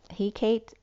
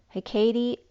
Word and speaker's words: Hecate: stable, as, I don't know how Hecate is pronounced, Hecate, but that energy is similar to Hermes, holds 2 flames, and does magic, deals with boundaries and between spaces.